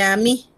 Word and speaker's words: amie: Amigo se dice a mí. Amiga también se dice a mí. La E no se pronuncia.